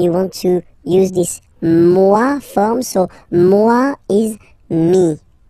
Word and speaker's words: moi: Moi. So remember, this O-E combination gives you the sound wa wa wa. Moi.